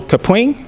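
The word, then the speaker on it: Kapwing: the edit i need to be perfect so capring is how you say that one and then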